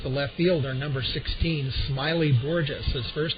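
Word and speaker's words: Smaily: Batting seventh is the left fielder, number 16, Smiley Borges. His first name is spelled S-M-A-I-L-Y. The A is silent.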